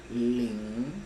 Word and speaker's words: 靈: Y la segunda parte del nombre, Lin, se pronuncia con algo que yo llamo el tono de interrogación, Lin, Lin, Lin.